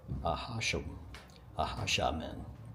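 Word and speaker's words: Acjachemen: The Padres taught the Ahasha men, that's how you say it, to play musical instruments such as the violin, flute, and drums.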